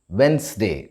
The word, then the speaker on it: Wednesday: of this word is wednesday the d in the middle and the e in between the n and the s are silent so it should be